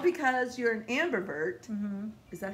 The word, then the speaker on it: ambivert: Well, like because you're an ambivert. Is that how you say it? Yes, ambivert.